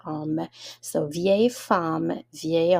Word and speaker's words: homme: So the H is silent for homme. So vieille femme, vieil homme means old woman and an old man.